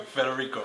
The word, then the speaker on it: Federico: Yo, how does he pronounce his name? Federico? Federico, yeah.